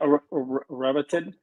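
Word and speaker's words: Oribatid: And if you is that how you say it? Oribitid? Oribitid, yeah, Oribitid, Oribitid, yeah, that's how I say it.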